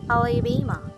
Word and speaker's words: Alabama: Let us consider the word Alabama. The third syllable bay is the most prominent and bears the main or primary stress of the word, but the other 3 syllables do not receive equal stress. We say that the first syllable has secondary stress, while the second and fourth are completely unstressed.